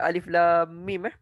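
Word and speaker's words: الم: Dan cara baca dia kena baca alif lam mim. Jangan baca alam pula.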